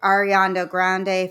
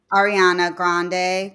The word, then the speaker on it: Ariana Grande: and I was like I'm not a huge ariando Grande fan am I saying her name right no I think you're not how do you say her name Ariana Ari Ariana yeah Ariana Grande Grande Grande um she's super talented with her